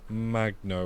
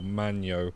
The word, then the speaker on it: Magno: a Silver Stars Tales Magno, or Magno, if you don't pronounce that G.